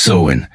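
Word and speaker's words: Samhain: northern France they celebrated a festival called Sinn pronounced seen on October 31st this festival marked the end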